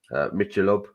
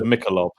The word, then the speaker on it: Michelob: around here Corona Mello mob is that you pronounce it mob I thought it was Michelob Michelob Michelob yeah deara